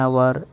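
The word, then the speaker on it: hour: ಆಗಿರುತ್ತೆ ಅದೇ ರೀತಿ ಆನ್ ಅವರ್ ಆನ್ ಆನರ್ ಈ ಎರಡು ಶಬ್ದಗಳಲ್ಲಿ ಎಚ್ ಸೈಲೆಂಟ್ ಆಗುತ್ತೆ ನಾವು ಪ್ರೊನೌನ್ಸಿಯೇಷನ್ ಅನ್ನ ಮಾಡಲ್ಲ ಉಚ್ಚಾರಣೆ ಮಾಡಲ್ಲ ಹಾಗಾಗಿ ಎಚ್ ಅನ್ನೋದು ನಮಗೆ ಕೇಳಿಸಲ್ಲ ಹಾಗಾಗಿ ಸೌಂಡ್ ಯಾವುದು ಕೇಳಿಸುತ್ತೆ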